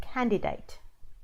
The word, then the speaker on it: candidate: you want to say candidate okay so you pronounce the D in the middle of the word do not live out